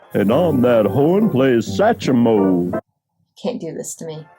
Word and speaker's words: Satchmo: They do pronounce Satchmo as Satchmo, though, so I put that E in there, but that's not supposed to be in there, technically.